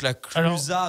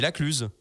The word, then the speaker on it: La Clusaz: se prononcer d'accord et donc la Clusaz normalement on dit même pas la Cluse ni la Clusaz on dit La Cluse normalement on apprend donc pareil